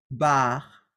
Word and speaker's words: bar: Except with the letters, with the consonants, C, R, F, and L. Okay? With these consonants, we do pronounce them. For example, bec, bar, bref, et bol.